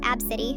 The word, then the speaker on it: ABCDE: ABCDE, pronounced Abcity, exclamation mark Xander, the exclamation point is part of it, and Kamnop, pronounced Noel, get it, Noel.